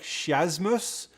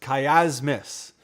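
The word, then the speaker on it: Chiasmus: the project is called it looks like chasmus but it's kiasmus is how you say it and i have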